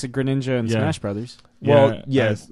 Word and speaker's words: Greninja: know or great ninja whatever I mean they pronounce it greninja and Josh Brothers well yes I've always gone